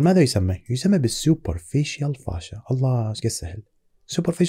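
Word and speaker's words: fascia: شيء يسمى بالفاش فاشا اكو بعض الناس يسميها فيشيا لكن هي الامانه النطق الصحيح لها هو فاشا لما نتكلم عن الفاشا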